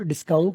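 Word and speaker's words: discount: या हम बोलते हैं डिस्काउंट डिस्काउंट डिस्काउंट लोकल इसके ऊपर सीन पर जोर है एस पर जोर है डिाउंट काउंट की जो सी है वो के नहीं है वो के है ख यू गिव मी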